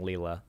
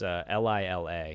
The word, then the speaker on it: Lila: I think they may have pronounced it Lila. I kept saying Leela. It's Lila.